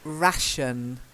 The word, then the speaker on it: ration: one isn't along very it's actually ration so it's rat like that ration try it like